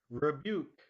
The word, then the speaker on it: rebuke: prudent rainbow rainbow rebuke rebuke the stress is on the second part okay serene serene slovenly